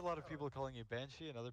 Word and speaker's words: Banshee: So no, I hear a lot of people calling you Banshee and other people calling you Banside, so I it's Banshee. It's just spelled weird. But okay. I don't care, either works.